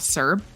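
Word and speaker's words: CERB: hit the government did something called Serb uh which was I it's spelled c-e-r-b Canadian emergency response benefit so it's like it's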